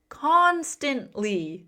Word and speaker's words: constantly: Constantly. The stress is on that first syllable.